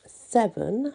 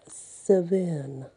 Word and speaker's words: Severn: tales this one is actually called savin not seven but sevin happy is the i